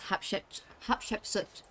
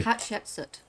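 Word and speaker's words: Hatshepsut: Rothma is going to pronounce the temple's name. It's Hapshep Hapsoot. Yeah, that's what it's meant to be called. Thank you. Hepsut.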